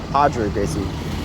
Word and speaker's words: Roger Gracie: a famous uh gjc player named Roger or hoder Gracie spelled Roger Gracie um yeah so I don't